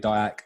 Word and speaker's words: Diack: But yeah, as you said, my name's David Diack.